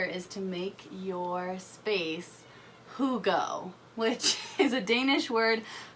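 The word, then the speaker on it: hygge: for loving winter is to make your space whoo go which is a Danish word for the longest time I thought it was hi ghee and I kept saying that but it's actually pronounced whoo go and I got this little book of who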